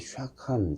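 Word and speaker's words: שָׁכַן: 거하다라고 하는 것은 그 히브리 말로 그 샤칸 이렇게 발음합니다.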